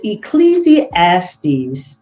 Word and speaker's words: Ecclesiastes: But Ecclesiastes, that's how you say it, 10 and 19 says, money answereth all things.